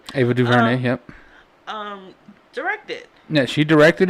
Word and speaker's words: Ava DuVernay: this series that Ava Duvernay, look at me pronounce the words correctly, Ava Duvernay, yep, directed."